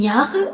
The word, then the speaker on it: Jahre: Jahre, J-A-H-R-E, où l'on remarque que le H prolonge le A.